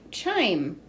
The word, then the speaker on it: chime: Ch-I-M. 3 sounds. Oh, I hear a consonant digraph, C-H at the beginning. Ch-I-M. I says its name, so there's a silent E at the end.